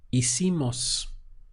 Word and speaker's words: hicimos: So that would be hicimos. Again, we have the mos sound for we, and you're starting the pronunciation from here. Hicimos.